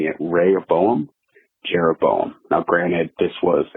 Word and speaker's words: Rehoboam: growing up in church we were referred to Raya Boehm and Jeroboam and that's how I remember saying it ray or Boehm Jeroboam now granted this was a said super